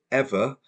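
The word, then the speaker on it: Eavor: is about a uh the company called ever pronounced e a v o r and their co-founder John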